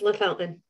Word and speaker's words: LaFontaine: LaFontaine or LaFontaine? How do you say it? It's LaFountain. LaFountain. Yes, that's going to be hard to remember. Okay. That's okay. Okay. And that's a La as in L-E, but I had it spelled L-A.